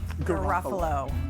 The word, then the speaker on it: Garofalo: And their stock symbol is NYSE and he's and the pronunciation is Guffalo.